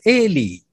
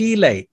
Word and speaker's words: Eli: of the high priest eli many of you pronounce the name as ali high priest eli because their father was